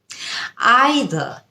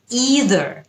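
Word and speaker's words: either: American উচ্চারণ আরেক রকম প্রথম শব্দ আইদার ইদার আইদার এটা হচ্ছে ব্রিটিশ উচ্চারণ এবং ইদার এটা হচ্ছে আমেরিকান উচ্চারণ আই উইল আইদার হ্যাভ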